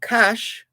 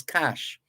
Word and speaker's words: cache: information with the gleaner the cash as in the collection of items the collection of weapons the arms cache c-a-c-h-e the cache comprises 18